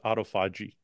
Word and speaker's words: autophagy: with autophagy too or autofy autoi yeah the proper pronunciation the proper pronunciation is autoi uh any IV Therapy